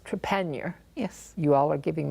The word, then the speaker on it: Trepaniar: let me go ahead and introduce you first, but, and your last name is pronounced Trepaniar.